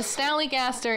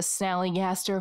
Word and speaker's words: Snallygaster: for good measure sally gaster is actually a mispronunciation of a german word schnelegeista which is itself a corruption of the german term schnelligeist meaning quick or fast spirit yeah or fast ghost fast